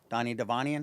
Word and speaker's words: Devanian: Donnie Devanian.